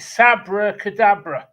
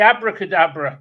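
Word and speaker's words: Sabbra Cadabra: I pronounced it right is it Sabra Kadabra you got it brother I was going to always say abracadabra don't ask me why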